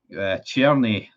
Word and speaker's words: Cerny: the signing of FAL club's churny that's how you pronounce it on a season long